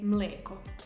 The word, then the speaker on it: mleko: And in Serbian, because it's usually ekavica, you would say mleko.